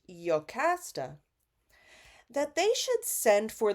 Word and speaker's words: Jocasta: at the crossroads and he tells Jocasta or in the ancient Greek it's pronounced yokasta that they should send